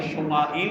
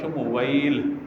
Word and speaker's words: شمویل: واو یا اور لام۔ بعد نے شمائیل بھی اس کو پڑھا، لیکن بعد نے جو درست تلفظ کے ساتھ پڑھا شمویل، واو کے ساتھ یا شمویل، اس طریقے سے 3-4 تلفظ اس کے بیان کیے گئے، لیکن شمائیل اس طرح کا کوئی لفظ نہیں ہے، شین ماؤ، شین میم واؤ یا لام اس طرح۔ حضرت شمویل علیہ